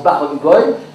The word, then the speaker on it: Berenboom: mon nom c'est Barenboy, parce que ça se prononce à la yiddish, quand on écrit Berenbaum, ça se prononce Barenboy, et alors cette famille-là s'est appelée Barenboy, comme le chef d'orchestre.